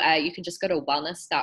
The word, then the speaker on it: Welnys: can just go to wellness comm and that's spelled a little funny it's wel NY s comm and from there